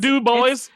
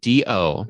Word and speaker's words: DuBois: Oh, And them it's- Du Bois. Them Du Du Bois Bois. got themselves in trouble again. in fact, they have bumper stickers that have it spelled out phonetically DOBOYS.